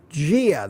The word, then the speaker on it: dia: And they pronounce dia, gia. They pronounce it with a G sound.